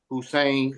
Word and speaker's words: Hussein: It's pronounced Hussein.